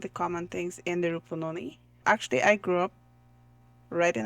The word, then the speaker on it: Rupununi: All the way from South Rupununi. Do I pronounce that correctly?